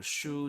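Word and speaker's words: 手: Toshu, to throw, shu to for hand. But I guess the common pronunciation for this one is te.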